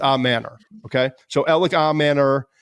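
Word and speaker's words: Ayomanor: we just looked up like the way he pronounced it it's ellic is his first name we all know that I've heard IO Manor a Manor I've heard all a Manor but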